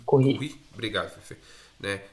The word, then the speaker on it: Curie: Curry? Curry. Marie Curie. Ela é Curry é Mary Curry é por causa das séries que geralmente assistem, né? Mary Curry. Talvez você já pronuncie em inglês. É francês. Curie.